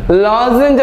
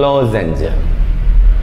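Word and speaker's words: lozenge: എൽ ഓ സെഡ് ഇ എൻ ജി ഇ ലോസൻസ് ലോസഞ്ച് എന്ന് പറഞ്ഞാൽ വെട്ടിത്തിളങ്ങുന്ന ഈ ഡയമണ്ട് പോലെയുള്ള ഡയമണ്ട് പോലെയുള്ള രൂപങ്ങൾക്കാണ് ലോസൻ എന്ന് പറയുക ലോസഞ്ച് ഈ ജി എക്സ് സി എച്ച് എൻ ജി ഇത്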